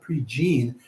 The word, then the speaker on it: Prejean: So it's spelled Prejean, but he's a Cajun man, so they pronounce that Prejean.